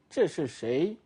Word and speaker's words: 这是谁: You can feel through the way you pronounce it, you can feel the tone marks. You can even write down the tone marks by yourself. 这是谁? You see? 这是谁? It's going up at the end.